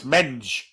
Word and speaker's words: Mendes: Gets a foot in and concedes the throw in, which Mendes takes. Mensch, yeah, that'd work. But because the pronunciation of Mendes isn't like we say it, Tom, it's Menge.